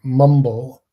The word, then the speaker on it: Mwmbl: Um next we have Mumble, which is spelled MWMBL.